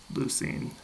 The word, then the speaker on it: leucine: If you convert that into English, the kappa usually ends up as a 'c' and ends up with more of an 's' sound. So even though it's 'lefko' in Greek it's 'leuc', 'leucine' when pronounced in English.